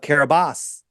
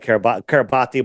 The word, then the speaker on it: Kiribati: Why did they change the name of the island of Kiribati? Right? Formerly, I used to call it Kiribati, but it's pronounced Kiribati.